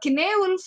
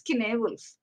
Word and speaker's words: Cynewulf: It is pronounced as Cynewulf as well as Cynewulf, but predominantly it is Cynewulf.